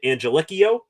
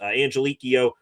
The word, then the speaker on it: Angelichio: I probably butchered that last name. Brian Angelikio, I think is what uh I was hearing as a phonetic pronunciation of his last name.